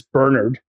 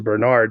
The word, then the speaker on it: Bernard: Yeah, I mean, right off the bat, one of the bad guys, Bernard, who I'm a fan of the British pronunciation as opposed to Bernard, right?